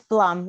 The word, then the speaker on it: Blum: Bloom or Blum? It's Blum, like plum.